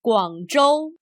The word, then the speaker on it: 广州: Notice that in the Chinese name of the city, ZH is pronounced much like the English J, J. Remember the name. 广州 The first part of